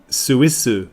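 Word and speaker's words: スイス: they just call it Suissu. That's it, Suissu. Oh, that. Okay. And is that how it's spelled?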